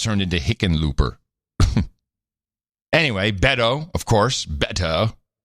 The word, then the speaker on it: Hickenlooper: Well, it's a Dutch name. Heckenloper. Well, how do you pronounce it? What's the real way to pronounce it then? Well, the way it's spelled is a derivative, but I heard him actually explain it on an interview somewhere. It would be Heckenloper or Heckenspringer even is someone who...